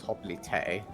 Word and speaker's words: hoplite: So apparently, the correct pronunciation of hoplite is hoplite.